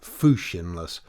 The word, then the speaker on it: fushionless: That word is fushionless, pronounced fushionless, and when the writer has